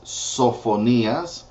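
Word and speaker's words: Sofonías: it sounds a lot the same Zephaniah is sofonias Hagi is hayel Zachariah is Zacharias Malachi is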